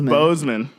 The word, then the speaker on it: Boseman: fan of chadwick boseman you pick those bozeman like the speakers bose okay